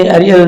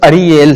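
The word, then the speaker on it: Ariel: کہ سر آپ نے ایریل نام رکھا ہے تو اس کا کیا مطلب ہے اس کا؟ جی پاسٹر, فرسٹ آف آل یہ سپیلنگ وہی ہے لیکن یہ لفظ ایریل نہیں ہے, لفظ اریل ہے.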